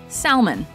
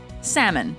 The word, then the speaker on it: salmon: common mispronunciation sward correct pronunciation sword salmon common mispronunciation salman correct pronunciation salmon where that gets the 2/3 of the way